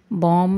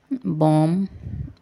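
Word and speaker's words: bomb: पर म्यूजिकली मौसकी से बॉम में लास्ट लेटर बी है वो साइलेंट है बम इसके प्रोनंसिएशन बम बॉम नहीं बोलते बम बम कम कंघी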